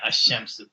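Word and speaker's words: الشمس: a sun letter, you would know when you see it to say ashamsu. Even if there wasn't, a shadda there, you say ashamsu. And even without qamar, if there was no sukoon there put there for us conveniently, because we know that the qaf is a moon letter, we'll say al qamar.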